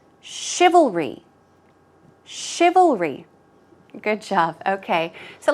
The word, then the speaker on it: chivalry: look at the pronunciation chivalry this part is difficult oh oh and then going on to re all read L REE let's try it three times chivalry chivalry chivalry good job okay